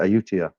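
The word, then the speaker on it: Ayutthaya: one time in Utah and that's how you pronounce it ayutia along Andy uh uh translated as Canal Andy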